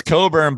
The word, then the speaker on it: Cockburn: think i think it's coburn but it's i think it's spelled cockburn right yeah yeah so he's